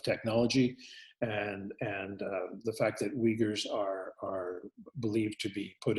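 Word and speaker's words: Uyghur: country of China so the we Gers pronounced the Uighur spelled uy g hu rui gh you are as a Muslim minority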